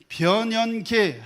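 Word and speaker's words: 변연계: 발음하기가 조금 까다로운데 혀가 짧으신 분들은 변현계 해 보세요.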